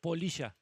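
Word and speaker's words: Poliya: So Polita with an A. No, Polisha. Polisha. Oh, Polisha. Spell it for me so easy.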